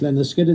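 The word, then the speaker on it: Lynyrd Skynyrd: That's Leonard Skinner, taken from Pronounced Leonard Skinner, their 73 debut, written by Alan Collins and Ronnie Van Zant.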